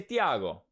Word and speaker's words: Thiago: thiago if you're hispanic you say thiago or something you know like that not santiago not santiago just thiago i always get that's